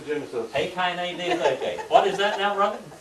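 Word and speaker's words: Ἡ Καινὴ Διαθήκη: And then we have the Hei Kaine Diatheke, the New Testament. Hei Kaine Diatheke.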